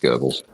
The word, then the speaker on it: Goebbels: Or I can't pronounce his name. Just Goebbels.